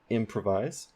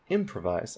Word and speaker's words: improvise: there improvise improvise improvise the main stress is at the beginning of the word for M on that syllable improvise you might be saying